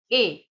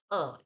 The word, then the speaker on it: a: ए ए जिसको कि हम प्रोनाउंस करते हैं समटाइ्स ए समटाइ्स अ। सो इसमें कोई फर्क नहीं है। आप ए अ कुछ भी बोल सकते हैं। बट अ बोलते हैं। अ right pronunciation is अ।